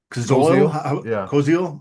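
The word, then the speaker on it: Koziol: Coil, that's how you pronounce it.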